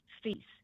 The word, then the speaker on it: Fils: And his last name is Fils and it's spelled F I L S. Fils. Okay. And the L is silent.